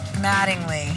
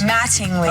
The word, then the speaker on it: Mattingly: Pronounce the T's. Mattingly. No, those are D's. Mattingly. Oh, beautiful. Yeah, Jill, it's T, as in tool.